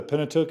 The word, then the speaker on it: Pentateuch: to talk about the Old Testament specifically the Pentateuch is how you pronounce it first five books of the Old